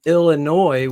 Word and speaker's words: Illinois: bro I'm not from Illinois with a silent S I guess Illinois yeah